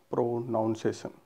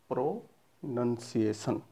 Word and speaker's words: pronunciation: प्रोनाउंसिएशन, प्रोनाउन की तरह, बट इट्स नॉट प्रोनाउंसिएशन, इट इज प्रोनंसिएशन।